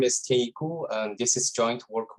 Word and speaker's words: Tianyi Gu: planning and it's going to be given by tanyiku i apologize if i've mispronounced that it's correct perfect great to hear yeah thank you okay um so so hello everyone my name is teiku and this is joint work with the wheeler